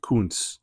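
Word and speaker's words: Koonce: Kun, but it's not spelled like the guy from Green Bay. K O O N C E.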